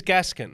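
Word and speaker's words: Gåskjenn: I looked this up. Ingvil Gaskjenn. It is Gaskjenn. Ingvil Gaskjenn. I thought it was going to be something like Gaskjenn or something.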